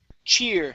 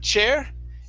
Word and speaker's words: cheer: Next up is cheer. Okay, long E sound. Instead of chair, it's cheer.